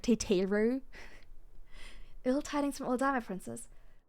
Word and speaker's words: Tataru: And that's when I found out that Tataru is actually pronounced something like Teteru.